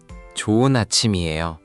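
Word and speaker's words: 좋은 아침이에요: Joeun achimieyo. Almost perfect. Just smooth out the transition between achim and ieyo.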